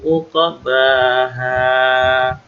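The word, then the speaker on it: عقباها: Wala yakhafu uqbaha. Huruf qaf ini qalqalah, jadi mantul. Uqbaha.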